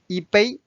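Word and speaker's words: 一杯: e first tone however when the next word is the first tone so it's become the fourth tone this is the rule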